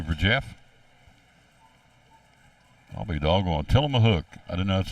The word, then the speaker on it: Tillamook: Tillamook. I didn't know that's how you pronounced that ice cream.